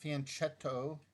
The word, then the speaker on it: fianchetto: Fianchetto. I did, in fact, look it up, saw the pronunciation. It's not fianchetto. Italians don't pronounce the CH with the ch sound. They pronounce it with a k sound.